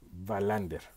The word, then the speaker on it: Wallander: Digamos que la pronunciación sería Wallander.